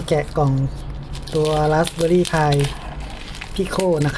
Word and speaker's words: Pico: กล่อง ตัว Raspberry Pi พิโค นะ ครับ อ่าน ว่า พี่ โคตร ที่ โค นี่ แหละ ตอน นี้ ก็ ซื้อ